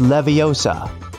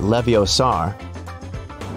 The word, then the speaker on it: Leviosa: assistant needs some help sometimes hey siri it's leviosa not leviosaur measure app is a toolkit too clunky to